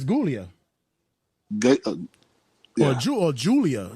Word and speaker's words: Giulia: I think it is Julia. It's spelled with a G though.